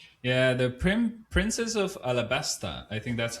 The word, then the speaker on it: Alabasta: Yeah, the prin- princess of Alabasta. I think that's how you it's pronounced, right? Uh it is Alabasta with an L. Uh it is pronounced Arabasta with an R. Oh, Arabasta, right.